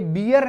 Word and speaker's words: bear: कुछ विशेष आता है, ये बियर नहीं है। हम पढ़ते हैं छोटी क्लासेस में, हमने कुछ भी पढ़ लिया, BEAR, बियर, बियर मीन्स भालू। ओके, यह बियर नहीं है, यह है बेयर। इसका जो प्रोनाउंसिएशन है वो क्या है, बेयर है।